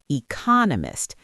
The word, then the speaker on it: economist: If you talk about an economist, the stress is on the second, economist.